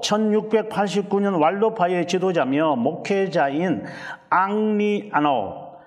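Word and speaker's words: Henri: 또 1689년 왈로파의 지도자며 목회자인 앙리 아노, 이게 앙리인데 이제 영어 발음은 헨리가 돼가지고 앙리 아노.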